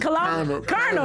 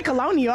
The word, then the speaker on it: colonel: Colonel. Well, why do I want to say colonial? I don't know why I want to say that. That's the way it's spelled.